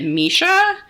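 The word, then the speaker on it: Missha: it's called I think I would say it Misha m i s s ha a I've heard this sunscreen recommended on YouTube before and I think that's how people typically pronounce it um and you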